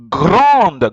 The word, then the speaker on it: grande: You have an E, on the word grande. It's a big, big. But if it was masculine, you will not have put the E. You'd have pronounced it grand. But here, you have to pronounce the D.